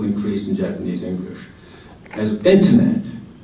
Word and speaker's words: internet: As internet, the word internet is internetto. How many syllables? Internetto. Seven syllables. Whereas in English it's internet, three syllables only.